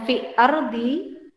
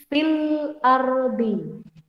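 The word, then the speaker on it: في الأرض: Bacanya bukan fi ardi, bukan fi ardi, tapi fil ardi. Alnya terbaca. Fil ardi.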